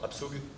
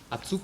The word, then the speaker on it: Abzug: Pardon? Abzug. Abzug, bah c'est le départ. Voilà, la prononciation est bonne, voilà.